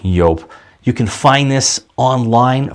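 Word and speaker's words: Joop!: Back then I just called it Jup, but it is pronounced Yope.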